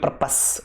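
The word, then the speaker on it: purpose: ये देखो एक और बात बताऊं मैं, इसकी सही प्रोनाउंसिएशन होती है पर्पस, ठीक है ना। हम पर्पस या प्रपोज पढ़ते हैं, लेकिन ऐसा है नहीं, पर्पस होती है इसकी।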